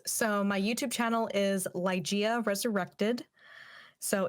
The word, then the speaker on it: Ligeia: is your youtube channel because you could probably pronounce it better than i can yes so my youtube channel is ligea resurrected so it's l-i-g-e-i-a resurrected and it's inspired